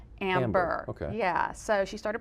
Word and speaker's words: Ambear: She calls them Amber, and it's A-M-B-E-A-R, but it's pronounced Amber.